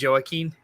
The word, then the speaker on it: Joaquin: Joaquin Phoenix, yeah. It's pronounced Joaquin.